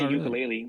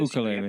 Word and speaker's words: ukulele: They also had ukulele lessons, so you can't say ukulele once you do this. Ukulele.